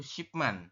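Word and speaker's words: 십만: ya robun makanya dibacalah jadi 100.000 itu shipman dalam bilangan Shino ya kalau misalkan di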